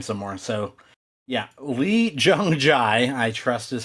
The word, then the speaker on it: Lee Jung-jae: So, yeah, Lee Jung-jae, I trust is how you pronounce his name.